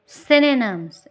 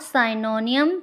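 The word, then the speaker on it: synonyms: इट्स सिनोनिम्स। इट्स नॉट साइनोनियम। Please pronounce it clearly और correctly.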